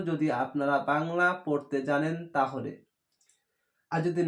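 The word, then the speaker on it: ت: তয়াকার তা। তা উচ্চারণ হবে, দাঁতের মাড়ির ওপর মাড়ির সঙ্গে লাগিয়ে এইভাবে তা।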